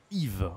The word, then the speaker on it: Yves: Yves, ok. C'est la même prononciation que le I comme Igor.